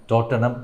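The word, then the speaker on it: Tottenham: ക്ലബ്ബിന്റെ പേര് ടോട്ടനം എന്നായിരുന്നു ടോട്ടൻഹാം എന്ന് എഴുതുമെങ്കിലും അതിന്റെ ഉച്ചാരണം ടോട്ടനം എന്നാണ് ഈ ടോട്ടനം എന്നതുകൊണ്ടാണെന്ന് തോന്നുന്നു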